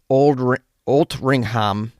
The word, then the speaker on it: Altrincham: I got an email from Sandy and Andy in the UK, and they were helping me pronounce words like Altrincham, which apparently is pronounced Altringham, and what I thought was mither apparently was pronounced my-the.